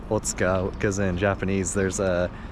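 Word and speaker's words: 大塚: but it's actually pronounced Otsuka because in Japanese there's a couple, usually in the words with the U right in the middle, they end up not pronouncing the U a lot of the times.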